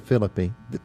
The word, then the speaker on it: Phillipe: wasn't really I see I always mess up an end don't I don't pronounce the e at the end of it yeah I